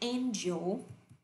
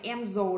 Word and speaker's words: angel: hơi lạ một tí, chúng ta không đọc là angel đâu ạ. Các bạn hay đọc là angel đúng không ạ? Nhưng thiên thần thì chúng ta đọc là âm A. Âm A đầu tiên đọc là A nhá.